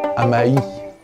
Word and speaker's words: Amaï: pas qu'elle est malade amaïï non c'est pas ça parce que tu dis hamaï c'est hamaï faut prononcer comme s'il y avait un tréma c'est parce que je